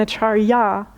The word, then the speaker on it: Acharya: So it's Acharya Premadas and Acharya Kashi. So there's a slightly long A on the last syllable, Acharya Kashi, but there's not a quiz later, so you're okay.